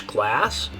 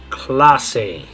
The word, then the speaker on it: clase: In English, this would be the word class, like a Spanish class, or a class at school. But in Spanish, the way you're going to say it is clase. Clase. So in English, class. In Spanish, clase.